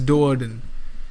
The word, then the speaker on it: Do'Urden: How do you say that? Drizzt Do'Urden. It's Do'Urden. Drizzt Do'Urden. Never mind, I've been saying it wrong the entire time.